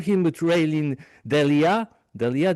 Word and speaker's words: D'Alie: Delia, did I pronounce it right? I think I botched it. Yes.